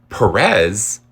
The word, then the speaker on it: Pérez: But Perez, why is that randomly now on the last syllable?